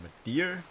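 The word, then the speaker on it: Midir: against the Dark Eater Madeir, that's how you say his name. I know I pronounced it wrong in the guide, but it's called Madeir. I called him Mitter.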